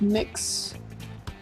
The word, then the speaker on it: Mx: it's like introductory scene usually pronounced mix is an English language